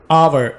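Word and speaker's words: hour: आवर, इसको आप कभी भी हावर नहीं बोलते, यहाँ पर हम एच को साइलेंट रखेंगे, आवर।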